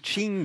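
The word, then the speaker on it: Qing: le gd je sais pas des chinook ça s'écrit sonnait bien ça c'est quand les kings mais on dit shin gala 19 stiching l araignée de 744 à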